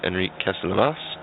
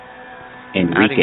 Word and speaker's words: Enrique: uh just past uh Enriqueas. Thank you. Enrique. I'm adding more letters now. Yeah, you just go with Enrique. It's a It's just like a You just pronounce it like that.